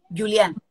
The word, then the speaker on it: Jullian: Yo les contaba a la gente, primero, ¿cómo se pronuncia tu apellido? Julián.